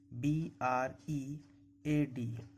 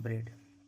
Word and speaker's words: bread: जब ए के पहले ई हो तो ए साइलेंट रहता है। ए के पहले क्या है? ई है। BREAD। ए के पहले ई है, इसलिए ई का उच्चारण करेंगे, ए का उच्चारण नहीं होगा, इसको पढ़ेंगे ब्रेड।